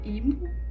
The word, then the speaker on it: Yves: Ives, ou Ivo, ex-Luna, e eu acho que é assim que pronuncia o nome dela. Na Coreia, Ivo, eu acho, mas aqui a gente fala Ives mesmo, pelo menos eu sou acostumada a pronunciar assim, então é assim que eu vou falar dela.